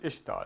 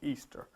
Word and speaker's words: Ishtar: You pronounce it Ishtar. They pronounced it Easter.